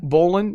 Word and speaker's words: Bolin: Is it pronounced Bolin? Bolin.